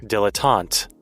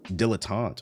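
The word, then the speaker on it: dilettante: Uh, I don't know how to pronounce this word. Is it dillante? Let's see. Dilotant. Dilotant.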